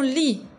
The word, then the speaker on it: lit: Elle glisse sous son lit. Attention, ici, le S final, je ne prononce pas. Sous, sous. Son lit. T final, je ne prononce pas.